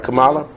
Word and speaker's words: Kamala: is it Kamala or I saying it right Kamala okay yeah so I didn't look into it